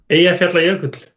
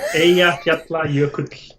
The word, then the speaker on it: Eyjafjallajökull: Can you pronounce the name of that volcano that erupted a few years ago? Eyjafjallajökull. Yeah, it's that one. Yeah. Eyjafjallajökull.